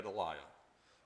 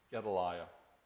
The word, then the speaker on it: Gedaliah: Yeah, Gedaliah is the way I pronounce it. You may have been closer to right, but Gedaliah.